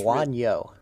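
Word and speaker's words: Bouagnon: It's Buonyo.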